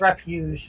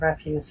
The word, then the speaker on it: refuge: That's refuge, not refuse.